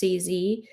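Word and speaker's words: C. Z.: Then his wife, CZ, pronounced CZ, some dubbed her Sleazy, began to inquire about her jewelry.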